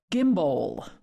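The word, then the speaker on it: Gimbow: probably use um it's an auto gimbal called gimbal okay now you have to spell it g-i-m-b-o-w-l okay and what you do with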